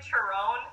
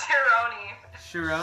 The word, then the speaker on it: Chironi: Well, Tyler, by the way, you said my last name wrong on the Facebook live. You said Chiron. Yeah. Is it? It's Chironi.